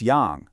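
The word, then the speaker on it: 羊: That's Yang, which means sheep or goat.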